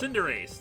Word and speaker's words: Cinderace: Also, the final for Score Bunny is Cinderace, I think that's how you pronounce that? Cinderace, that's it.